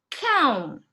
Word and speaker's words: cão: So usually, in terms of the pronunciation, whenever you see that tilde, it means that it has a nasal sound, yes? So you need to focus on pronouncing that nasal sound.